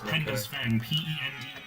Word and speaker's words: Penda's Fen: you should try watching Penda's Fen. Oh yeah, Penda's Fen. Say that with your American rhodic words so people can understand my non-slurry. You say it how it's spelled. It's Penda's Fen.